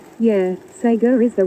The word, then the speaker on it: Sega: Mystic said the change in Sega is correct way according to the Japanese. Yeah. Yeah, they do say it that way. It's just the way their phonetic alphabet works. But it goes against everything I know. Sega Sega Sega Master System Sega Master. It just doesn't sound right. Doesn't roll off the tongue the way it should.